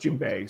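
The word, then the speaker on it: djembe: Um, that's how it's it's but it's pronounced Jimbe.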